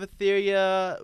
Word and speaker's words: Aetheria: Return of Etheria, War of Realms. Etheria is spelled Aetheria.